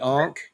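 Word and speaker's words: ankh: The ank is on is the second from the left. The it's it's pronounced ank.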